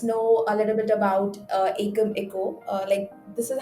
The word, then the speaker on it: Ekameco: Okay, so to begin with, let's know a little bit about Akam Echo. This is how you pronounce it, right? Yes, it's pronounced as Ekam, Eco.